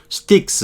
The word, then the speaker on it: Styx: sticks 요 발음 요렇게 되는 거 sticks 강 이걸 삼도내라고도 하고 이렇게 아까 명사로 쓰일 때는 모르지만 이렇게 as black as sticks 이렇게 쓰기도 해요.